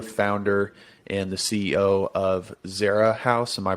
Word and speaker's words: Zera House: you are the founder and the ceo of zara house am i pronouncing that correctly yes you are all right